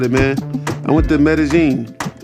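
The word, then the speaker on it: Medellín: man I went to medazine so for those who don't know that's how he pronounce it uh looking at the way it's spelled you wouldn't know that's how they pronounce it but yeah um that's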